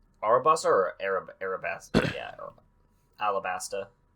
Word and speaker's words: Alabasta: One Piece continuing The arabaster Saga so they pronounce it Aura Basta arobasa or Arab Arabesque yeah alabasta it's not Alabaster I don't know how how do we American